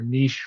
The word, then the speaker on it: niche: And then the other thing is that automation won't, if you have a very niche role, um, or niche role, if you want to use the better French pronunciation, and those skills are going to be very hard to find.